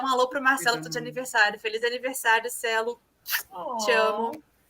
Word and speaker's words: aniversário: Feliz de aniversário. Feliz Feliz. aniversário. Aniversário. It's like anniversary, but aniversário.